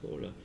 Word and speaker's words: Kowler: In French it's pronounced Kohler.